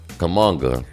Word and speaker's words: Kuminga: But the high man for the Warriors was Jonathan Kuminga.